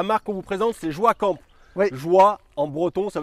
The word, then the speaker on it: Joa Camp: Alors, la marque qu'on vous présente, c'est Joie Camp.